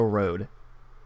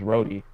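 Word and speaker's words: Rohde: up to imagine you're Joe Road is that how it's pronounced or is it rody I think it's really it's Joe Brody yeah rody okay wait you both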